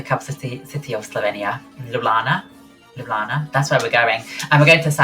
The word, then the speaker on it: Ljubljana: How do you pronounce the capital city of Slovenia? Ljubljana? Ljubljana.